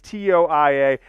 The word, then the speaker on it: Toia: And now Jay Toia, I've heard it pronounced 3 different ways. It's Toia.